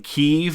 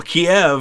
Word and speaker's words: Kyiv: like in the news they started saying keeve and they spelled it kyiv well kiev i guess is the the russian word for the city uh kiev kyv is the ukrainian so that's why everybody's using the ukrainian uh which is much